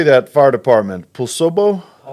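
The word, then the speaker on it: Poulsbo: Paulsbo? Paulsbo.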